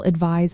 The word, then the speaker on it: advise: Advice ends with an s sound like ice while advise ends with a z sound like realize in sentences.